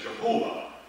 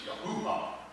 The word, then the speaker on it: Yahuwah: The old Germanic people said Jehovah, but it's not her, it's Yahuwah.